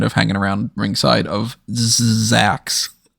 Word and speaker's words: Zzzax: hanging around ringside of Zax. And I say it like that way because it's ZZZAX.